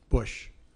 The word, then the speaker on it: Bush: um such as George Bush um I mean I know it sounds like an easy rhyme it rhymes with tush but that's disrespectful um